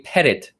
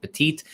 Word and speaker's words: petit: that is called a pettit jury or petite jury nobody really pronounces it petite but it's spelled uh like petite only without the e p e t i